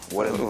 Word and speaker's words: Walembo: Walembo, il faut prononcer d'un trait. Walembo.